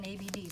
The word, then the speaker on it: ABD: but it's called an abd so don't pronounce it abdominal KBD use the letters and so she's gonna